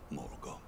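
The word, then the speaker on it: Morgott: cut scene it's been a long while morot oh that's how you pronounce it long and hard did thou fight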